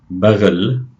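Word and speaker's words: بغل: See the gh note, the gh sound in the middle of the word. Baghl.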